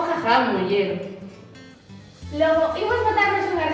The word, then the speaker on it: Ghaghán: Pronuncia o con GH, que é de reproducir a pronuncia popular de jaján con GH.